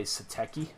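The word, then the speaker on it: Satechi: 5 gigabits per second it's by satki that's how you pronounce it I love it using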